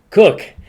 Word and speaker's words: Khuc: Now, the only reason why I got that right is because I pronounced it as an American. But if you read it, it's XU Right. for Sue, Yes. and then how you spell the last name, KHUC. and you get Cook out of that.